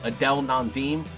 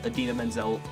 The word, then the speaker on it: Idina Menzel: it's an Oscar so John Travolta basically mispronounced idina menzel if you don't know who she is she's the girl who wrote let it go from frozen she mispronounced is a name her name as Adele nan zine which is nowhere even near close to what idina menzel name is today we're gonna be